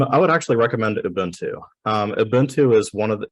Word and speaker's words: Ubuntu: place to start um any other questions uh Ubuntu is spelled ubu NTU so what does do you